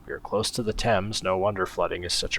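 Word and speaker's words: Thames: are close to the temps no wonder flooding is such a risk the TS yes that's how you pronounce that the River temps oh I've only got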